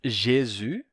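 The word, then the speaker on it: Gesù: se torna u Jesus em italiano a gente perde o s final e a pronúncia é Jesu só que em italiano eles eles decidiram que quando quando esse som aparecer a gente coloca uma letra g certo em Galego eles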